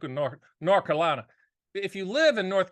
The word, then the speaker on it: North Carolina: And it's like North Carolina. If you live in North Carolina, you never pronounce the TH, North Carolina.